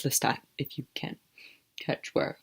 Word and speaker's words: Lestat: and blond and whose name rhymes with rat and has a list in the beginning of it it's Lestat if you can't catch